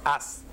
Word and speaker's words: haz: Y tú lees la letra y te pones hace con acento en la E, una palabra aguda, cuando la correcta es haz.